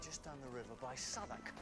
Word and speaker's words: Southwark: We're just down the river by Southwark. Right next to. Oh, it's pronounced Southwark. I've been calling it Southwark for years.